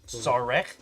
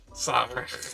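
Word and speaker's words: Szarekh: Sarek. Sarek. You're playing the Necrons. Everyone. Necrons. There we The go. whole name is silent.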